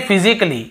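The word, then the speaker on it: physically: हम क्या पढ़ते हैं फिजिकली ये देखिए फिजिकली तो यहां पर भी ए का उच्चारण नहीं हो रहा है और देखिए लॉजिकली लॉजिकली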